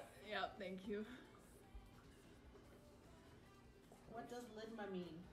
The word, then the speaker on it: ligma: What does ligma mean? You're not even saying it right.